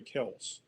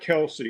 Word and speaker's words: Kelce: Uh yeah, the correct correct pronunciation is is actually Kelse.